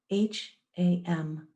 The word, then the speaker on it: ham: on the inhale the mantra is ham h a m pronounced ham on the exhale the